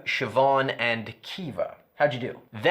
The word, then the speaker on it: Siobhan: That would be Neve, Siobhan, and Kiva.